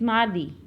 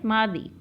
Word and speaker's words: mardi: In French, that is mardi. How we will pronounce Tuesday in French is mardi. Mardi. Mardi. Yes, beta, repeat with me. Mardi. Mardi. Yes, mardi.